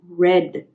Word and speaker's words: read: it stays the same read the spelling stays the same but the pronunciation changes so read becomes red like the color red okay that's how it